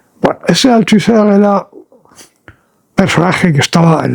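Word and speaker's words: Althusser: era una llam al altiser pronunciado en francés altuser era personaje que estaba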